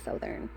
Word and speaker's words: Southern: I always thought it was Southerntherland, but it's Southern.